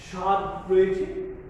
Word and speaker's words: স্বাদ: শ্বাস, স্বাদ রয়েছে, স্বাদের ক্ষেত্রেও আমরা শব্দের শুরুতে যেহেতু ব ফলা আছে কাজেই আমরা এটা অনুচ্চারিত থেকে যাচ্ছে, অর্থাৎ উচ্চারিত হচ্ছে না স্বাদ।